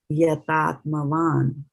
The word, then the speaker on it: yatātmavān: So you will pronounce it as yatātmavān. Van, not vana, because there is no A here.